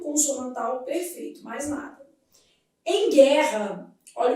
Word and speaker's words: guerra: Em guerra, esse U não é pronunciado.